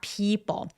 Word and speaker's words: people: smart people. 피할 때 P는 굉장히 긴 장음이에요. 그래서 우리 해변가 할 때 beach 할 때랑 똑같이 people처럼 길게 발음해 줍니다.